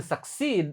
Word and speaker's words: succeed: I will succeed. Oh, ini by the way kosakatanya susah ini. Succeed. Jadi, U-nya sama sekali enggak dibaca, ee-nya juga sama sekali enggak dibaca.